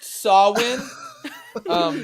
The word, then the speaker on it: Samhain: samhain november coming fire and it's pronounced sawwin now gabe your inbox